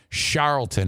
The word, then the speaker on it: Charlton: Charlton is how you say that.